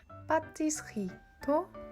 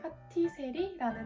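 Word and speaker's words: pâtisserie: 예를 들어서 제과라는 뜻의 파티스리도 파티세리라는 단어로 많이 불리고 있고, 한창 유행했던 잠봉베르 샌드위치도 프랑스어 발음으로 하면 잠봉베르 라고 읽어야 되는데요.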